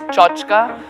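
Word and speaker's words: tchotchke: i mean what comes to my mind is chochka which is spelled t c h o t c h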